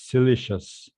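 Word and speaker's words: siliceous: uh by the way according to the dictionary it's pronounced as silicious yes I'll translate um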